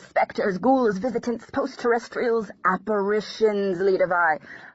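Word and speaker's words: Lidewij: Behind it, I heard a stammering, reedy voice shout, "Leadavai!" Until then, I'd pronounced his assistant's name like Lidowich.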